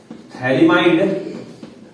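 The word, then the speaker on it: phthalimide: Gabriel थैलिमाइड, spelling P से शुरू होती है, पथैलिमाइड, पढ़ते थैलिमाइड है हालांकि।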